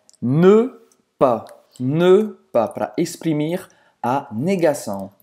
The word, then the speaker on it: ne: E o ne, presta atenção na pronúncia, ne... Faz a boca do O e fala E. Ne.